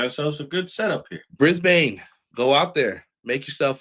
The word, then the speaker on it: Brisbane: It's pronounced Brisbane, not Brisbane.